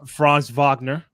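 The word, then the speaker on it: Franz Wagner: France Vagner. Right. Call me a France Vagna.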